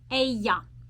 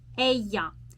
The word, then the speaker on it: ella: Ella. Ella. Double L in the Spanish language is pronounced as y.